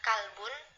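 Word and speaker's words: كلب: Misalnya sama ain itu kan hurufnya beda. Misalnya kolbun, kalaunya kolbun kan artinya hati, kalaunya kalbun itu kan artinya anjing.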